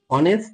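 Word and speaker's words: honest: কিন্তু যদি হি ইজ অনেস্ট ম্যান।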